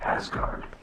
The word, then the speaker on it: Asgard: Believe it or not, 4564RD is pronounced Asgard. Silly or not, it has a great dance floor, and I love the music they play.